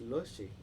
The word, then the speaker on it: Lotje: Logi? It's Lushy.